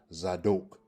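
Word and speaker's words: צָדוֹק: Or is it number 5, a masculine proper noun pronounced zadok?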